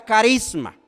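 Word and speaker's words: χάρισμα: En el griego eh, la una se pronuncia carius, en la otra se pronuncia carisma. Entonces, la palabra carius tiene que ver con el don del Espíritu Santo.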